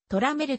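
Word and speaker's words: Tramiel: ラミエル社長の名前は本来トラメルと発音するのであったが commodore 時代は誰もその発音では呼んでくれなかった目に新会社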